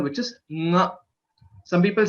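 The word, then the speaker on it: ङ: Nga. It is not just nga, it is nga. There is a nasal element that is coming while pronouncing this letter, which is the fifth letter, nga. So please note this.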